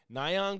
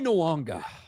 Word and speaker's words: Nyong'o: this, of course, but when you see that, you're either going to say Nyong'o or Nyong'o.